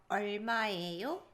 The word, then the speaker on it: 얼마예요: The 얼. like your tongue has to be touching the roof of your mouth when you're saying earl. So it's not like an L sound or an R sound, it's like a earl.